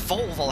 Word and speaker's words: Volvo: first time uh kieran it's pronounced volvo have you know exactly uh guys we're just approaching flight level 360.